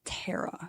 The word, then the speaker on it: Tara: It's actually pronounced Tara.